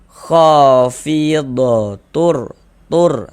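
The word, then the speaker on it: خافضة رافعة: Ah, bunyi tanwinnya dimasukkan ke huruf ro. Kita baca khofid tur. Jangan dibaca tun tun ro.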